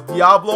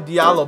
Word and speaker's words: Diallo: All over Twitter last night, man, it said his name was Diablo. I was so confused. Turns out his name is actually Diallo.